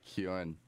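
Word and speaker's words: Keoghan: I would have said Keegan. Oh yeah, Kan.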